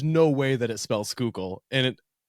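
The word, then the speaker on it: Schuylkill: and it took me so I think I I pronounced it when we first got here like the scalak Gana but it's like it's the skookul but there's so many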